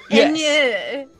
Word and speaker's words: Inye: It's actually pronounced Inye. Inye. Inye. Inye. Yeah, the tonality is important to the Orcish language.